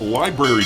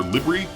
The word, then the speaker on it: LBRY: SEC files request to file Sir reply regarding motion to strike, citing the SEC versus Library decision, or Libry. I keep forgetting how that company is pronounced, LBRY, decision in which New Hampshire